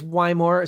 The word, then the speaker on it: Wymore: I get texts so a lot of times you can't tell in the text how things are pronounced but it is why more thank you Kenny also